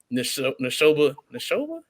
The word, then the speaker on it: Neshoba: games, and then before we went up to Neshoba. That's how you say it? Neshoba Central.